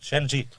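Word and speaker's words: Szczęsny: Com s'hauria de pronunciar correctament? Ell diu Ujak Shenji. Szczesny.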